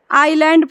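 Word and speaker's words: island: पढ़ाई थी मेरी मिस्टेक यह जो है लैंड है लिखा है लेकिन इसको पढ़ते क्या है आईलैंड पढ़ते हैं ठीक है यह बहुत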